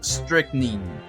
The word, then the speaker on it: strychnine: pronounce it that's what richard said uh it's pronounced strychnine oh thank you richard 30 minutes is